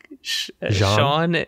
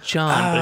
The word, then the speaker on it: Jean: where you help out John or not John Sean Sean and and John isn't it John he just says John it's spelled Gene Jean Jean yeah so I